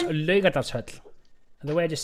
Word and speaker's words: Laugardalshöll: How do I pronounce Laugardalshöll? The way I just said it. There's no audio. Laugardalshöll.